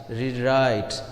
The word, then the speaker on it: rewrite: can say unhappy similarly rewrite rewrite so here right is the second syllable and the stress will